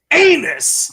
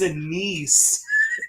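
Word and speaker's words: anise: and I said sir I think you're saying it wrong he goes he goes no I know all about Amos I've tasted anus I know the taste I was like sir it's a niece he was just like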